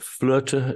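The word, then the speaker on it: Flöte: word meaning Destiny and flutter is the um German spelling um and roughly speaking the German pronunciation of the the instrument I play the flute so we can we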